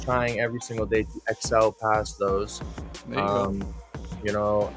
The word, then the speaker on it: X-el: relatable to myself and my name is so it's literally just my name backwards minus the a and then also i wanted something two syllables because if you were in this if you were an audience chanting you know excel except like that comes off the tongue nice you know it's a